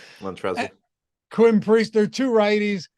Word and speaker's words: Montrezl: Just throw the L on the end. Montrezl.